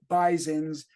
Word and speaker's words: Bisons: home of the Buffalo Bisons pronounced with a z as opposed to owls